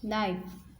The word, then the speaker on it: knife: Knife, silent word is K.